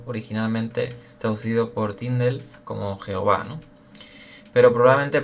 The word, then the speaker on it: Yahvé: nombre personal sagrado, originalmente traducido por Tindel como Jehová, ¿no? Pero probablemente pronunciado, dice aquí el autor, con más precisión como Yahvé es el nombre del pacto de Dios que